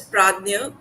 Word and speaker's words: prajna: pa path to pragma it is uh pronounced as pragma although it is spelled as prajna because it's a sanskrit word and pragma means enlightenment